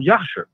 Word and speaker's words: Jasher: in the book of Yasha. Well, it's spelled Jasher, but I pronounce it as Yasha because that's the correct way to say it.